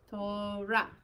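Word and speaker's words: תורה: And then our resh with kamatz would be what? Yes, but resh first. Resh sound first. Oh, resh. Ra. Good. So like an R with ra. An A. Yeah. Ra. Torah is this word.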